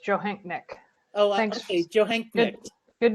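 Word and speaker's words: Johanknecht: our King County Sheriff, Mitzi Joanecht. Is that pronounced okay? That's pretty close, Johanknick.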